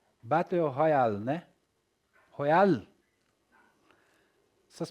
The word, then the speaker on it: battle royale: H Royal Battle Royale, né? Royale. Essas pronúncias do inglês aí quebra a gente, né, turma?